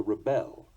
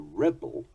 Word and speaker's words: rebel: Sometimes the stress will change according to the meaning or nature of the word. He inclines to project bad vibes. A project to study the inclines. He proceeds to rebel. The rebel steals the proceeds.